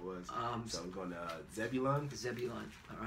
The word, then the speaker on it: Zebulun: So we're going to Zebulun. Zebulun, all right. Zebulun. Yeah, Zebulun means Zabalawan, which means dwelling, all right?